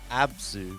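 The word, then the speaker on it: ABZÛ: ABS here's your first question how do you pronounce the name of the game Abu abzu yes what did I say as okay all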